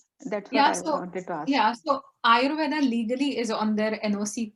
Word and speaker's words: Ayurveda: you explain the term Ayurveda? Yeah. So Ayurveda is made up of two words, and Ayurveda is a little bit anglicized pronunciation. In India, we call it Ayurved.